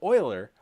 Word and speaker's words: Euler: only learned recently that this name is actually pronounced Euler and not Euler huh anyway learn that lesson so oiler Euler is the guy who solved this and